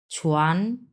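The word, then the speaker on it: 船: তারপরে হচ্ছে 2 number ton ছুয়ান, এরপরেও 2 নাম্বার টন ছুয়াং। ছুয়ান আর ছুয়াংয়ের মধ্যে একটাই পার্থক্য, সেটা হচ্ছে এই যে জি লাস্টেরটা, এই যে জি লাস্টেরটা।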